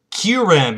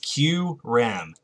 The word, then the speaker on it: Q-Ram: So now we have this Q-Ram EX. That's how it's pronounced. Q-Ram.